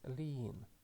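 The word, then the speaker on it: לין: The first letter is lamet, and the sound is L. And after that we again have matres lectionis, hirik yod, and it is pronounced as one sound, E. And the final letter is nun safit, and it is pronounced as N. So we can read this word as lean, and the meaning is to spend the night.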